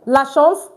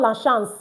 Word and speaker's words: chance: Lashons the chance confidence. You can see that. Okay. So you see I said lashons not lash because a n is pronounced o lashons.